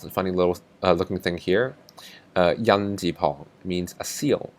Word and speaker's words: 印: Radical number 97, this funny little looking thing here, yan ji pong means a seal.